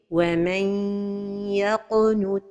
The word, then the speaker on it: وَمَنْ يَقْنُتْ: C'est comme si on donne juste un temps long pour la lettre ya. Or que l'idgham se fait avec un temps pour la ghunna.